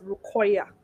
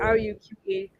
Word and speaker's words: Ruqayyah: So it's an Arabic name. It's Rukoya. So it is Oh, Ruqayyah. So there's a stress on the Y. So it's Rukoya.